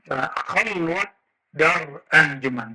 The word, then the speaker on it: khalwat dar anjuman: Khalwat dar anjuman, bukan khalwah, ya. Orang Persia tidak bisa baca dalam pelafalannya, walaupun di hari-hari bisa.